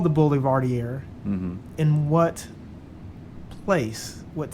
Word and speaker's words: Boulevardier: And what did you say about Boulevardier? Yeah, it could also be what? Boulevardier. Which is French.